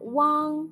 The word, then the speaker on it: uang: Let's learn the final uang together in this class. When you pronounce the final uang, make the u sound, then quickly slide to the ang.